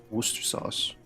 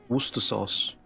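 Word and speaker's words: Worcestershire: You know, most people in Britain shorten it to be pronounced like wor sauce. Worc sauce.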